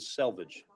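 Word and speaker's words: selvedge: Not to be confused with salvage. Selvage.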